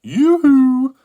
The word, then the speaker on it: Yoohoo: I mean, it's just pronounced Yoohoo.